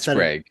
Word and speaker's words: Sprague: Uh but welcome people that it's pronounced nothing like Prague and that does not help them.